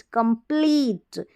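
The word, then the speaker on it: complete: को प्लम प्लट कंप्लीट ये ई का लंबा उच्चारण है ई टी ई है ना इस ई का टी से पहला जो ई है लास्ट वाला तो साइलेंट रहेगा अब इसका कंपीटी तो होगा नहीं कम सीओ एम कम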